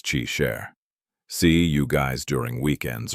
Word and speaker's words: Qi Shi: Qi Shi is pronounced as Qi Sher.